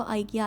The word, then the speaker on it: IKEA: अच्छा, जर्मनी में सब लोग इसको ईकिया बोलते हैं क्योंकि प्रोनाउंसिएशन की वजह से, अल्फ़ाबेटिक के। बाकी जगहों पे मैंने सबको यही सुना है कि वो आइकिया आइकिया बोलते हैं।